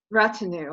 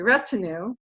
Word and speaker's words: retinue: follow them around but it's what retinue I was pronouncing it incorrectly sorry retinue and I will find